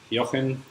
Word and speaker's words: Jochen: I'm Jochen from Germany originally. Yes, that's how we pronounce my name. The J is pronounced like a Y in English.